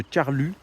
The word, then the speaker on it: Carlux: de l'ancienne gare de Carlu ou Carlux je crois que c'est Carlu qu'on dit n'hésitez pas à me